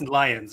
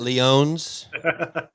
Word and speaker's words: Lyons: Now I always like it is Lions, right? I'm pronouncing that right? Yeah. It's not It's not Leon's.